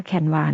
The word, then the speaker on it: Canva: พิมพ์ canv c n บาง คน ก็ อ่าน ว่า canva นะ คะ แต่ ตัว เอง จะ อ่าน ว่า canva นะ คะ จาก นั้น